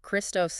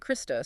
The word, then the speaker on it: Christos: speech during that period, the vowel sounds ape, e, and iota I had often merged. They were pronounced almost identically, a phenomenon linguists call ioticism. So Christos and Christos sounded the same.